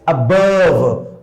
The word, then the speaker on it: above: Above. Above. देखिए हमने आ को नहीं प्रोनाउंस किया बहुत ज्यादा तेज से. Above.